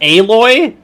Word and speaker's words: Aloy: Adventures when it launches on November 14th and aoy has more good news news on the horizon it's pronounced aloy uh-oh I love those those disc giraffes aloy's